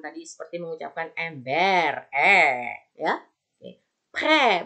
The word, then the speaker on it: prêt: Pre, bukan pret. Ingat T-nya, kenapa nggak dibaca? Di akhir kata.